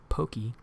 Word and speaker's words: Pocky: have to get Pocky it's actually pronounced pokey be